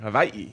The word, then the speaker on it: Hawaii: Another one is Hawaii. Hawaii. Yeah, it's almost more of a V, like Hawaii.